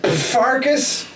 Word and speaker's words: Pfarcus: gamers i'm your host farkas the p is supposed to be silent and i'm your other